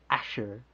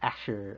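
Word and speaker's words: אשר: Asher, right? It's kind of a weird New York sound there. Asher, like, hey, can I borrow $5? Sure, I give it to you. No, but Asher, alright, it means who.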